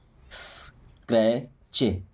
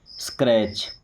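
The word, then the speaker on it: scratch: स्क्रैच सी एच के पहले टी तो टी साइलेंट क्या हो जाएगा रैच स्क्रैच स्क्रैच क्या कहीं पे खरोच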